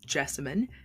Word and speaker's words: Jessamyn: hello my name is jessemine and I tend to tell folks that I rhymes with specimen but with a J I'm a budding sociologist